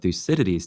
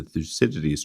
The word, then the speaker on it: Thucydides: Charlie, you've spoken a lot about Thucydides today, and as you were doing so, you made me think of Graham Allison's famous book, The Thucydides Trap.